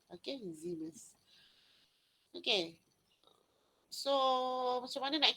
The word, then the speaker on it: Siemens: Kalau dia adalah bahasa, dia bahasa apa Siemens ni? Dia bahasa, saya pun tak tahu bahasa apa. Tapi kalau pronunciation ni Siemens. Macam ada Z sikit.